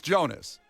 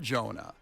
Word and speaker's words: Jonas: It's Jonas. Oh, somebody said it's Jonah. It's not Jonah.